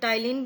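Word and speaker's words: ptyalin: और सलाइवा में एक एंजाइम होता है सलाइवरी अमाइलेज, या फिर टाइलिन भी बोलते हैं हम उसको, यहाँ पर पी साइलेंट है।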